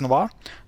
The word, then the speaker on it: Nova: Again, this is Nova. The emphasis is on A here, and yeah, how do I show this? Looks more like an emphasis.